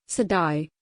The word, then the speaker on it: Siddi: the Sidi pronounced sidai also known as the